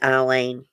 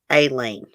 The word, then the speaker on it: Aileen: Yeah, it was Eileen. Some people say Eileen, some people say Aileen. I'd say Eileen. Okay. Which of the following killers ultimately turned him or herself in? Eileen Wuornos, John Scripps, Edmund Kemper, or Ted Bundy?